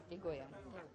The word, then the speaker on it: Egoyan: You just tell me how to pronounce this guy's name here. Atom Egoyan. Egoyan.